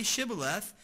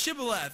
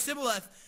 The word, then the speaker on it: Shibboleth: And so the Ephraimites can't pronounce Shibboleth. And they say it's Sibboleth, but they're able to distinguish them apart.